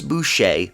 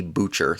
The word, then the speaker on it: Boucher: main two but chris boucher and i hope i'm pronouncing his name right because it might be butcher that's how it's spelled but i think it's chris boucher all right has been